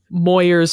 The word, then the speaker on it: Moyers: last name to just Moyer's rhymes with lawyers so that people stop